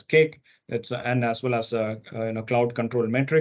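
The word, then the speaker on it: CAIQ: the form of cake it's called CA IQ pronounced as cake that's and as well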